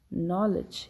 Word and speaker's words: knowledge: In all these words, we do not pronounce the sound of the letter K. So we have to remember, when K is before N, when it precedes the letter N, we do not pronounce it.